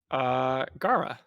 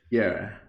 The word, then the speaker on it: Gara: is going to be about a pronunciation of a warfare. Gara or Gera? Gara.